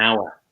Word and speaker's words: hour: So say, for instance, we say a horse, but we say an hour. Even though hour is spelled with an H, it has a vowel sound.